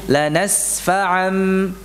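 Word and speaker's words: لنسفعا: Jadi di sini sinnya jangan dicampur dengan fa. La nasf, enggak. Satu-satu. La nas. Ayo ikuti. La nas fa'am. La nas fa'am. Ya, jadi satu-satu, jangan tergesa-gesa ke fa.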